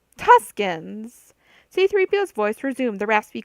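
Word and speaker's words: Tusken: into his own voice tusks Leia made a circling motion with her fingers trying to get him to say the second syllable oh tuskin c3po's voice resumed the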